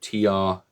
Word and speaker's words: Tyr: Never really pronounced this, so it's just called TYR. So there we go. Ty, I think it is.